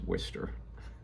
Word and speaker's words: Worcester: We were playing, I believe, in Worcester, Massachusetts. Said like a native, so I'm from New England, so I know how to pronounce Worcester.